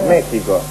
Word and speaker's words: México: de ninguna copa pero México la x se pronuncia J ahí sí y no